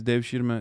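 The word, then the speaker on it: devşirme: No, I think it's Dev Shirma. Dev Shirma is how they say it.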